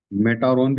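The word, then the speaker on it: Metatron: तो मैसेजेस आते थे मेटाट्रोन से। मेटारोन भी कह सकते हैं। टी साइलेंट करके मेटाट्रोन भी बोल सकते हैं।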